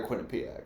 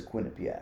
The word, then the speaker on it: Quinnipiac: how it's literally pronounced it's either that or Quinn Pak everybody says Quin Pak I've heard both really I've never heard whatever